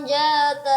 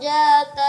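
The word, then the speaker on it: ذات: Sayaslan naran jata lahab. Ya, sayaslana lana. Ya, coba dijelaskan. Sayasla naran zata lahab. Ya, huruf za cara membacanya cukup diletakkan saja lidahnya di antara gigi atas dan gigi bawah.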